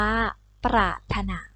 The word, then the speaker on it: ปรารถนา: คะ อ่าน ว่า สามารถ ปรารถนา อ่าน ว่า ประ ทะ หนา ต่อ ไป นะ คะ